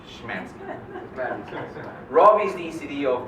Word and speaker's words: Smigielski: When we've been doing that already with Smigielski, with Robb, and some others in the past few months.